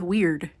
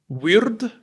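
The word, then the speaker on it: wyrd: What's the deal with weird? Why do we spell it that way?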